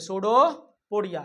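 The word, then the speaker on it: pseudopodia: इसको क्या बोलते हैं, सूडोपोडिया, क्या बोलते हैं, सूडोपोडिया। सूडोपोडिया नहीं लग रहा सुनने में, एस से, पी से शुरू होता है, पी साइलेंट होता है, ठीक ना।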